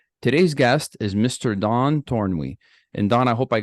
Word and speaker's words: Tornwe: life coaching Services today's guest is Mr Don torn and Don I hope I got your last